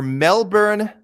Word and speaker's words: Melbourne: joe young our last email he says your melbourne matchmaker here i think it was joe who